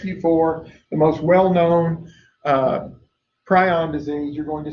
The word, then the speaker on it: prion: A prion, or as it was always pronounced prion. When I was going to school, and for years it was pronounced prion. The last 3 or 4 years, I've started hearing people pronounce it prion.